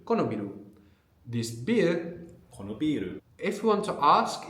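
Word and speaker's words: ビール: So the long vowel is important. If you notice, if you pronounce biru with a short vowel, we'll actually get a different word. Biru means building.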